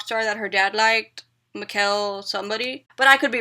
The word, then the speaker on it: Mikkel: her middle name, and she said that it's Mikkel because she was named after some rock star that her dad liked, Mikkel somebody, but I could be wrong.